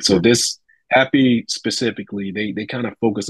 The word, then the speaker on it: HAPI: Another one, I would say, one I'm pretty excited about is called the Happy Protocol, and it's spelled HAPI, all right? Okay. HAPI. And Happy focuses more on the It's almost twofold.